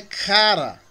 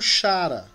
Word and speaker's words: chara: palavra graça cáries né mas é cara o que muitos pronunciam como chara é o que não é porque esse aí é o